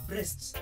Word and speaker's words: Brest: Na hii Brest hii pronounce vile nimesema ni Brest.